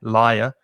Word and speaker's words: liar: lie in court and notice the difference in pronunciation between a liar a person who lies and the vowel sound is i lie liar and lawyer which has a different vowel sound the same vowel sound as door or more or so